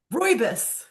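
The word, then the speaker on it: Rooibos: R O I B O S. Royus. Royus, Cape Royus from South Africa.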